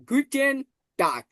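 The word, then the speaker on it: Guten Tag: তাহলে গি টি এন অর্থাৎ টে এন টেন গুটেন টাক টাক মানে ডি ঠিক আছে তাহলে গুটেন্ টাক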